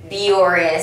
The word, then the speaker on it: Bioré: to compare these two biores sunscreen yes um it is pronounced as biore i did a little research next research but yes